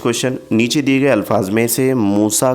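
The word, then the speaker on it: موسیٰ: तलफुस यानी कि प्रोनाउंसिएशन पूछा गया है तो यहां पर मूसा का जो है तो तलफुज इस तरीके से रह रहेगा लेकिन उसकी तहरीरी शक्ल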